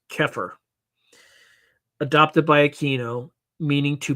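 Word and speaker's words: Xeper: Sedians engage in magical workings to en enhance their zepher, an Egyptian term pronounced oh sorry it's pronounced keir adopted by Aino meaning to become or self-evolution. Keer introduced as the word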